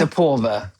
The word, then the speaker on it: Aporva: It's Aporva, not Aporva. It's Aporva.